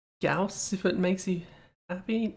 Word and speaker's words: Gauss: the correct way to pronounce gorse, I still pronounce it gorse. I just feel guilty about it now, which is good. I am never going to say Gauss.